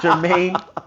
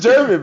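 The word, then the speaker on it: Germán: Jermaine. It's just German, bro. German, right? It says German, right?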